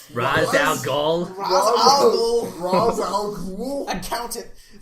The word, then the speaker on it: Ra's al Ghul: You mean it's not Roz? Ra's al Ghul.